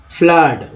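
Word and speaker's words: flood: अब देखिए F double O का, एफ L double O डी, फ्लड में डबल ओ का उच्चारण क्या हो रहा है, फ्लड उच्चारण करें, फ्लड।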